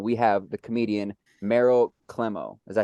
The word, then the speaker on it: Klemow: We have the comedian Meryl Klemow. Did I say it right? So close, Klemow, but Klemow. really close. She It's told me how to okay. say it right. I'm telling you.